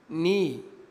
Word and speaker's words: knee: حرف الكي لو جه وراء حرف الان فإن حرف الكي لا ينطق، ما بننطقوش. ناخد أمثلة. كلمة knife، no، knee، kneel، knock.